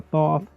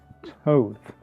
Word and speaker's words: Thoth: It's not the Thoth. It's not the Thoth. It's the Towth. Towth. I had to look it up. It is pronounced Towth.